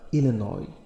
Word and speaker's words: Illinois: الديمقراطي من إلينوي أدلاي ستيفنسون, لاحظ إلينوي هي ولاية أمريكية تنطق إلينوي إس لا ينطق.